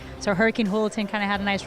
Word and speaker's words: Julaton: remind the announcers that my last name is pronounced with an h instead of a j so hurricane holton kind of had a